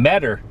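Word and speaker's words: Metter: crossing these now unused railroad tracks here in meador m-e-t-t-e-r all grown over no trains rolling through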